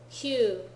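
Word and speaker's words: 九: nine q nine q there are certain special cases where C is the pronunciation for nine they're very specific the rest of the time it's Q Ju 10 10 10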